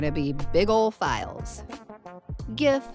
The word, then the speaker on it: GIF: be big old files GIF sometimes pronounced GIF we're not going to